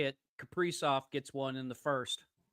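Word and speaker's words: Kaprizov: Capri off gets one in the first. Yeah. Yeah. One nothing wild over the nights. Isn't it pronounced Kipper? It is not. Are you sure about that? Positive.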